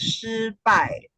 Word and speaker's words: 失败: So, yeah, in Chinese, it's pronounced as 失败, and it's two Wow.